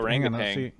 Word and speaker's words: harangue: I hope harangue. Harangue. Okay, that's how you pronounce it.